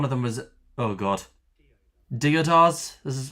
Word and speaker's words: deodars: One of them was, oh god, Deodars. This is how it's pronounced. Deodars.